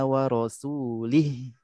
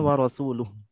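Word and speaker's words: ورسوله: nah nah disini orang Arab pedalaman itu bacanya seperti ini 60 habari Um Minal musyrikin a warosulih Wal iyadzubillah warosulih bukan warosuluh ini maknanya jauh banget berbeda kalau makna yang sebenarnya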